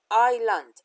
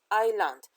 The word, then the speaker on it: island: c and uh but the s was hidden so we pronunciate eight uh is as island island so island is means